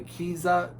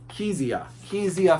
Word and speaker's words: Kezia: She gave me how to pronounce her name in this lovely letter that she sent me, and it is Kezia Frost.